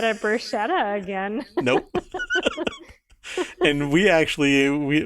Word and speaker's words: bruschetta: then we ordered and we made the mistake of pronouncing it bruschetta and she goes no it's bruschetta and she's like you gotta say it right and we just looked